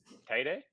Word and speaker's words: Teide: I would pronounce it Yeah. Teide, Teide, Teede.